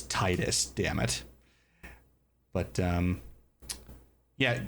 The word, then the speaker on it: Titus: It's like Tetus and Titus. It's Titus.